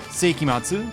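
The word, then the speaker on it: 聖飢魔II: way it's stylized is weird um so it's pronounced seiki matsu this means like the turn of the century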